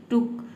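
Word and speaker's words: took: फिर second form हो, अगर वहाँ पे डबल ओ के बाद की आता है तो उसे आपको थोड़ा हल्का प्रोनाउंस करना है, ठीक है। टुक, शुक, थोड़ा जल्दी बोल देना है, ठीक है।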